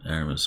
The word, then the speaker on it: Aramis: But I don't actually know, but I'm imagining the French pronunciation would be Eremi, but Aramis, I I'm like not that better.